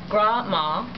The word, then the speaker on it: Grandma: One of the stories I will never forget was when Grandma, or we pronounce it Gra-ma, and still do, was out picking berries on the side of the road.